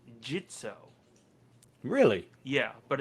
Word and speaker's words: Gitzo: uh you know i usually go around saying gitzo and then i re-watch their indiegogo video again it's pronounced jitso really yeah but it's spelled g-i-t-z-o yeah i